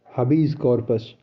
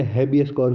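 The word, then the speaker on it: habeas corpus: हबीज कॉर्पस और इसे बहुत से हैबियस कॉर्पस भी बोलते हैं और हबीज कॉर्पस जो जैसे प्रोनाउंस करना चाहे.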